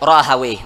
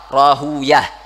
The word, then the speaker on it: Rahawayh: ulama lughah itu lebih suka membaca Ibnu Rahawayh, namun ulama hadis yaitu lebih suka membaca Rahuyah, yaitu untuk setiap nama yang belakangnya ha, yaitu seperti Al-Imam Sibawayh, yaitu banyak kalau ulama hadis lebih suka membacanya Sibuyah. Ada Al-Imam Niftawayh, itu kalau ulama hadis lebih suka membacanya Niftuyah. Nah, itu daripada cara bacanya.